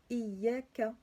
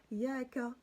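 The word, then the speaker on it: إياك: troisième verset, vous avez Iyaka, Iyaka. Vous voyez? Vous avez là, c'est-il ici là. Vous avez le alif avec la kasra, donc i avec le ya qui suit juste après.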